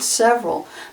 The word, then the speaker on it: several: example the word several we pronounce it several but if you look at it it looks like several it looks like three syllables both of three syllables but it's only two syllables several another example the word